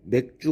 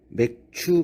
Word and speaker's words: 맥추: 짜 가 합쳐진 단어입니다 어떤 분들은 발음을 잘 못하여 맥주 감사 주 의 라고 하시는데 발음을 잘 해야 합니다 맥주 감사 주 일이 아니고 맥추 감사 주일 입니다 이 맥주 절은 유